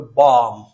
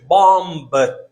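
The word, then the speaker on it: bomb: دلته په دغه حالات کې چې دی د رانوز زده کوونکو دا بي موږ تلفظ کوو نه، موږ دا شان نه وایو چې بامب، موږ وایو بام.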